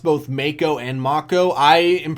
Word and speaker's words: Mako: on, because of the unfortunate early death of Mako, actually, or was it? Yeah. Is it? It's okay. Mako, I've heard it being pronounced both Mako and Mako.